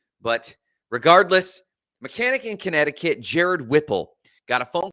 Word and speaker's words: Connecticut: a dumpster the state connecticut is the most difficult state for me to pronounce because i want to pronounce every consonant but it actually just sounds like connect it cut but regardless mechanic in